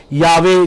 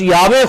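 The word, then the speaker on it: Yahweh: جمع کا نام ہے، یاوے جس کا لفظ ہم عبرانی زبان میں اس کا شاید صحیح تلفظ یاوے بنتا ہے۔ تو یاوے یا یہوہ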